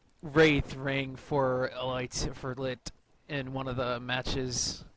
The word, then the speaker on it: .l1t: everyone pronounce it as lit, so... Pretty I sure believe it's yeah, it's lit up, like as in a drug reference.